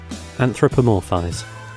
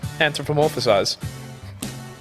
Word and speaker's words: anthropomorphize: not the enterprise anthropomorphized i know i love this word like i'm anthropomorphous i'm like you say you love the word can you say it anthropomorphise did you add a syllable there yeah anthropomorphize anthropomorphize anthropomorphize